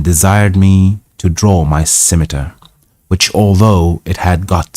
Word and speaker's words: scimitar: He first called for my scimitar.